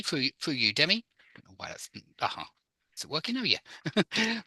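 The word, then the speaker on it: Udemy: find my website through Udi okay through Udi okay yeah excellent through Udi well you usly pronounce that one with a U at the start as in U Demi through through you Demi is it working now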